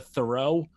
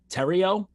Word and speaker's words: Terrio: names anyway, but apparently we've been pronouncing the people's goalie's last name incorrectly this whole time. I've been big on the Thoreau pronunciation. Apparently it is Terrio.